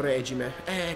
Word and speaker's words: regime: Penso sia regime, perché l'accento è sulla E. Molti dicono regime, però. Si può dire in tutti e due i modi? Perché il regime dovrebbe essere la dittatura, tipo. È un regime totalitario. Mentre regime è quello dei motori. L'accento è sulla E.